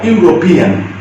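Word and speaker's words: European: তোমাদের মনে রাখতে হবে, ই এর উচ্চারণ যদি ইউ হয়, ইউরোপিয়ান, ইউরোপিয়ান। তোমাদের যেমনটা বলেছি, ইউ উচ্চারণের ক্ষেত্রে সবার আগে কিন্তু ওয়াই চলে আসে, যেহেতু এখানে ইউরোপিয়ান উচ্চারণ হচ্ছে, ই থাকা সত্ত্বেও উচ্চারণটা কি হচ্ছে, ইউরোপিয়ান, ইউ। তো ইউ বলতে গেলে যেন কি চলে আসে, ওয়াই চলে আসে আগে, তো এখানে ওয়াই চলে আসছে।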